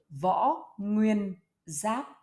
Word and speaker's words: Võ Nguyên Giáp: Hello and welcome to learning the name of the general Võ Nguyên Giáp. Võ Nguyên Giáp. Okay. Vo Nguyen Ziap.